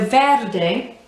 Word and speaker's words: verde: to describe it yeah so verde rolling the r again um and pronouncing every single letter so even the e on the end eh and keeping the mouth